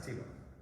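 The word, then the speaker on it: Thibault: i don't know but it's pronounced teva and not like tebow tivo but some other funky way but like a teaching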